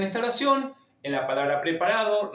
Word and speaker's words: preparado: O sea, está preparado para administrar el único detalle que tenemos en esta oración, en la palabra preparado, recordar que la o final se pronuncia como una u.